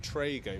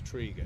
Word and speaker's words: Trego: my only defense is I've been pronounced Trego for 25 years and it's Trigo so I know what